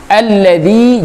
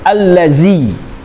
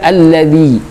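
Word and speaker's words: الذي: Alladzi, hati-hati membaca dza. Dza itu ada dua di dalam huruf Arab. Ada dza, ada zai. Kalau dza itu dibaca di ujung lidah. Biasanya lidahnya itu berdempetan dengan gigi. Bisa gigi bawah ataupun atas, ya. Alladzi berbeda dengan zai. Kalau zai itu bukan di ujung lidah tapi di tengah lidah. Allazi, jadi tebal.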